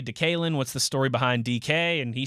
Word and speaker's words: DK: And then Pursuta, the typical writer background, he's like, well, it's not D.K. It's just DK. Just DK.